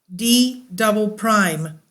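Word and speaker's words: D″: the lower most mantle is known as D pronounced d double Prime d double Prime d double Prime is one of the most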